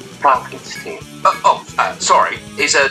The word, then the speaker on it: Frankenstein: directly remaking some scenes Frederick Frankenstein pronounced Frankenstein oh uh sorry is